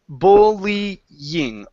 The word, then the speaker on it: bullying: a tricky one okay first off we need the L in there okay and it's going to be bull bullying bullying okay bullying there you